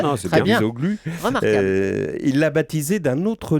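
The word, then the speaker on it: Çavuşoğlu: vous l'avez bien prononcé, non, c'est bien. Cavusoglu.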